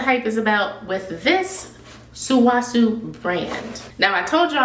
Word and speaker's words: Sulwhasoo: Let me see how I'm supposed to pronounce this name. Sulwhasoo. Sulwhasoo. Sulwhasoo. Sulwhasoo. Sulwhasoo. Sulwhasoo. There you go. Sulwhasoo.